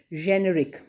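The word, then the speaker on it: generic: क्योंकि हम जनरली हमेशा इसको जेनेरिक ही बोलते हैं, पर इसका करेक्ट प्रोनाउंसिएशन आप देखेंगे तो इसका करेक्ट प्रोनाउंसिएशन में वो ज साउंड आएगा, जेनेरिक, है ना, ज वाला।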